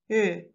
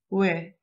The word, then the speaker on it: ㅚ: just make lips round and like whistling, and pronounced e, like this, ü, ü. It's very similar with the German umlaut ü.